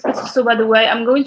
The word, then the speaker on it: كسكسو: But we pronounce it كسكسو, by the way.